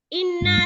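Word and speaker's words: إِنَّا: Inna itu ditekan ya nak ya, karena di situ ada tasdid. Tolong perhatikan tanda bacanya itu.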